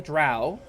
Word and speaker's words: drow: called the it it's it's spelled d-r-o-w in transliterations but it's pronounced like Dro or dro uh and